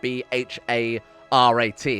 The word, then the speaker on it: Bharat: wrong I believe is the Hindu word for India is bar @bh a.r a.t is how you would spell it in English now I'm gonna say I